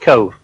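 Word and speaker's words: Cobh: a film well anyway cove is over there there are three islands in corks harbour that's the great island with cove on it it's spelt c-o-b-h but it's pronounced cove in 1848 the great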